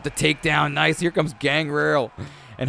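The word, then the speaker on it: Gangrel: comes gang Rail and how do you say his name people always correct me but I say gang rail gang girl oh there goes Mr T so I'm giving you different versions of how to say gang girl he was part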